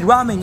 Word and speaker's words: ramen: I get to eat ramen in a country where it came from also it's pronounced Ramen not Ramen then we went to